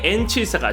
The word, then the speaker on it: N74: 이름을 영어식으로 읽을 때도 술자 7사를 74가 아닌 한글 발음 74로 부르도록 정했기에 세계 어디서든 현대 N74가 정식 발음이죠.